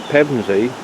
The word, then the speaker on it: Pevensey: conqueror was heavenly haven now pemzy although today it's spelt with an ey is not as its